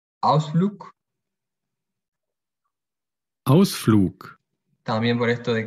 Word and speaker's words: Ausflug: Por ejemplo, la G al final se pronuncia como K. Ausflug.